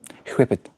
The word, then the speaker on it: whip: Melt, you gotta pronounce the H in that. Whip it. Whippity. Like that.